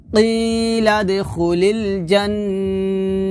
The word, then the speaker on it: قِيلَ ادْخُلِ الْجَنَّةَ: উচ্চারণ করতে হবে অর্থাৎ গুলতা জজম ওয়ালা হা উচ্চারণ হবে একসাথে বলি কিলা দখুলিল জান্নাহ আমার সাথে বলেন কিলা দখুলিল জান্নাহ কিলা দ